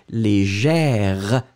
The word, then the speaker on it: légère: Féminin, on le prononce différemment parce que vous le prononcez légère, r. Vous entendez le r, d'accord.